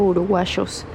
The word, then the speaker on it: uruguayos: ¿Y cómo se dice? Uruguayos o uruguayos. Pues ellos dicen uruguayos.